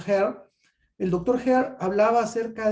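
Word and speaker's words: Hare: el doctor ares s se escribe con h se pronuncia here el doctor heart hablaba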